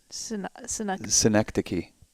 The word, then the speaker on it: Synecdoche: Synecdoche. Schenectady. Synecdoche. It's a play on the town Schenectady.